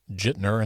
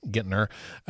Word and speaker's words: Gittner: There's some mispronunciations like Jitner instead of Gittner, Drummond, and clearly they don't know how to read abbreviations.